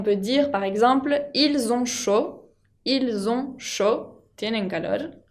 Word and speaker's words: chaud: Chaud con la D final que no se pronuncia. On peut dire par exemple ils ont chaud.